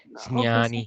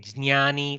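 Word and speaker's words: ज्ञानी: It should be pronounced nasal from the nose.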